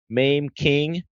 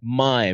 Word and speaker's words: Maim: Why did my mom give me such a weird name like Mime and it's spelled Maim, like Mame?